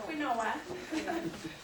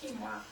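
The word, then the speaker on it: quinoa: how many of you guys know how to pronounce it it's not quoa it's quoa okay and this is great this is also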